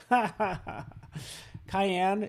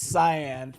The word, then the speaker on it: cyan: say it sarah cai i think i said cayenne like it's a pepper cayenne it's cyan thank you so much